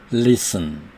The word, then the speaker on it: listen: castle, listen, T가 소리가 안 납니다. listen, castle, listen. 이렇게 castle과 listen과 같은 단어에서처럼 T는 발음되지 않습니다.